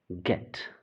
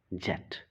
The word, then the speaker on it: get: Here, after G, there is an E, the letter E, and it is get, not jet.